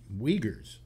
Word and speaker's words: Uyghurs: been going after and imprisoning and indoctrinating the Uyghurs, which are a group of Himalayan, or not Himalayan, but Asian, kind of like Himalayans, who are a group up in the north of China. And the Uyghurs, and they're, or is it Uyghurs or Uyghurs?